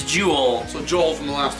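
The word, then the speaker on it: Joule: is you play as Joel Jewel Jewel I always have a problem it's it's spelled j o u l e I always have a problem saying that saying that name so it's juel so Joel from The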